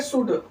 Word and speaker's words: should: यूज़ ऑफ़ शुड शुड लिखते हैं शुड लेकिन पढ़ते हैं शुड। इंग्लिश में उच्चारण में थोड़ा ध्यान दें।